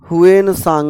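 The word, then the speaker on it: Hiuen Tsang: सा धर्म अपनाया था हुन सांग मैंने कल भी कहा था सांग में टी साइलेंट रहता है चलिए अब हम लोगों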